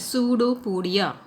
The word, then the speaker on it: pseudopodia: That, and which is called as pseudopodia. Okay, P is silent here.